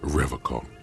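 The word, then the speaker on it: Revachol: He pronounces Revol with a hard K, unlike other people.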